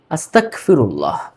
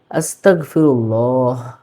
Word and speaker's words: আস্তাগফিরুল্লাহ: উচ্চারণটা কি হবে? আস্তাগফিরুল্লাহ অনেকেই কি পড়ে আস্তাগফিরুল্লাহ আস্তাগফিরুল্লাহ এটা টোটালি একটা ভুল আস্তাক দিয়ে পড়ে